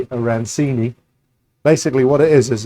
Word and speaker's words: arancini: So, I say aranchchini. Other people say arancini.